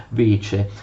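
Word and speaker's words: вече: L'assemblea generale dei cittadini si chiamava Vece, leggete qua, Vece.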